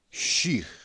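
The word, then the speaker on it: שִׁיר: Shir, nós vemos aqui, olha, esse aqui é um iode, ele é defectivo, ele não é pronunciado, certo? O que dá a pronúncia dele é o hirik. Então já vemos o pontinho está à direita, então o som dessa letra é SH, porque ela é shin e não sin.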